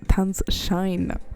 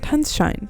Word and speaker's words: Tanzschein: I'm actually so mad I fucking pronounced that name wrong. It's Tanzschein. I should know this. I know how to read German. I took a German course. Tanzschein.